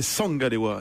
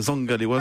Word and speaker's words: Zangalewa: C'est du Douala et c'était Sangalewa et non pas Zangalewa, c'est Sangalewa qui se prononce plus avec l'accent du sud.